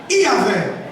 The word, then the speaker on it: Iavé: Então os judeus acrescentaram as duas primeiras vogais, A, E. E aí ficou o nome chamado Iavé.